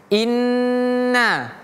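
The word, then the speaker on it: إِنَّ: Inna. Jadi bacanya in na. inna masuk dulu ke yang mati in baru pindah ke yang hidup na inna tapi tidak boleh terputus contoh in na tapi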